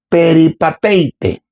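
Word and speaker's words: περιπατεῖτε: El término en el griego se pronuncia así, peripateite.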